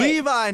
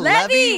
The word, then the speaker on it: Levi: It's Levi, not Levy.